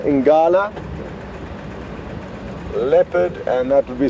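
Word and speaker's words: ngala: or also known as inati is Buffalo L inala leopard and that would be spelled n g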